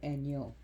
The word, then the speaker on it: Enyo: Like Enya, but take the A out and put an O, Enyo, which was a minor war deity and associated with the god Ares.